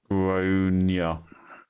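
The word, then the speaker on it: Gráinne: Generally pronounced Groania.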